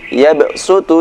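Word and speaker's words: يَبْسُطُ: Jadi yabsutu dibaca yabsutu, bastah dibaca bastah.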